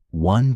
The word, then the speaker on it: one: One begins with a W sound, so a is used.